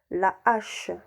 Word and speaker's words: hache: h nuit h muet quelques mots débutant par un h aspiré exemple h on dit la hache et bout on dit le hibou handicap on dit le handicap haricots ont dit le